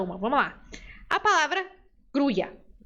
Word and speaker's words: grulla: vamos lá a palavra gruia se eu pronunciar com i gruia ó tô fazendo som de i tá vendo gruia gruia se eu fizer o som de J eu diria gruja la gruja eu pronuncio com esse